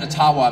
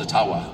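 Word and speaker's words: Ottawa: but thank you and I I called it atawa many many times and I would get these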